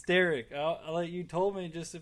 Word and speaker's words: Starrick: I've had worse people called me Starrick, the German pronunciation, and some of them call me Starwick. And I'm like, this ain't Spiderwick Chronicles, dude. It's Starrick.